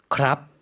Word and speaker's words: ครับ: 물어볼 때도 마찬가지로 끝을 올린다고 했었어요. 다시 한번 발음 들어볼게요. ครับ 네, 여성의 경우에도 마찬가지로 뭐뭐이에요, 뭐뭐입니다.